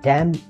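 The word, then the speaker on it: damn: এই ড্যাম কিন্তু একটি সাইলেন্ট শব্দ, ওয়ার্ড আপনারা জানেন, এখানে এনের উচ্চারণ হয় না।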